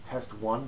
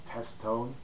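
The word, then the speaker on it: Testone: I think you pronounce it as Test One, but I always pronounce it as Test Tone.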